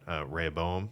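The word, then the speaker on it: Rehoboam: because it was Solomon's son Rayoboam I think I think it was that's how you say it is But that's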